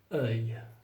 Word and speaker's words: œil: Ça, c'est très difficile à prononcer. Œil.